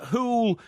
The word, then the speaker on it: Hoole: bowls results from the Hoole Bowls Club. Right? Hoole? Yeah, that's where I lived. Hoole, that's the district. Right. Hoole. Sounds like Louis Van Gaal's pronunciation of Hull.